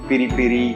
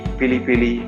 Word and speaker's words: piri piri: famous Portuguese peri-peri chicken there are different pronunciations very very piri piri pili pili basically periphery is smiley for